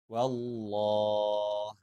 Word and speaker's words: والله: Lafaz Allah dibaca tebal ketika sebelumnya berharokat fathah atau dhammah. Sekali lagi, lafaz Allah dibaca tebal ketika huruf sebelumnya berharokat fathah atau dhammah. Contohnya, Wallah, Rasulullah.